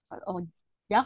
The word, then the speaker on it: ojak: Ojak nanti kayak ojek.